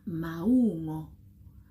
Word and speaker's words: maungo: the different fruits in Setswana and help you pronounce them the right way. So fruits in general are maungo.